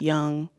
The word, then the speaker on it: Jung: glimpse into what Carl Jung I didn't mean to butcher Carl's Name by the way I know Carl's name is spelled like Jung but it's pronounced young um but yeah that's